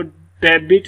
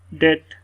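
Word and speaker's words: debt: इसी तरह इसको डेबिट नहीं पढ़ेंगे, डेट, बी की साउंड यहाँ पर साइलेंट।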